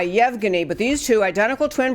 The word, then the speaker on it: Yevgeny: difficult name to pronounce I believe it is Yevgeny it's why EVG and why Yevgeny but these two identical